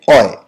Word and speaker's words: hoy: तो उसका प्रोनाउंसिएशन हम लोग बोलते हैं ओय। मतलब लिखने में तो HOY होगा, लेकिन बोलने के लिए सिर्फ OY, ओय। एच क्या हो जाएगा?